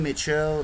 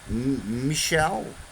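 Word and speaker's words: Michell: 18e siècle par John Mitchell et Pierre-Simon Laplace. Michel, ouais, c'est pas Mitchell, il n'y a pas de T.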